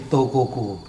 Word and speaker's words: Tokokoe: Kalau anak-anak sekarang nyebutnya toko kue. toko kue. Iya. Wah, nyebutnya Tapi toko. sebenarnya Tokoku kan? tokoku. Karena pakai ejaan lama.